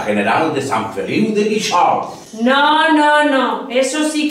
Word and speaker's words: Guíxols: Es natural que nosotros pronunciemos Guíxols, porque ponga lo que ponga el letrero, sabemos que es así. Pero a un forastero que nunca ha oído el nombre y que lo conoce solo de haberlo visto escrito, ¿cómo va a pronunciar Guíxols si en todas partes ve anunciado Guíxols como palabra aguda?